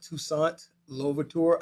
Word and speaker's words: Toussaint Louverture: slave owners, and the historical figure of Haiti, Toussaint Louverture.